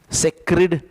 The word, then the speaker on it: sacred: It is sacred. इट is pronounced as सैक्रिड. और इधर अगर आप एस ए सी की जगह पे एस सी ए करते तो इट बिकम्स स्केर्ड.